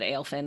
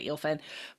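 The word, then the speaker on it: Eelfinn: just says, I am Eelfin. So EEL versus AEL.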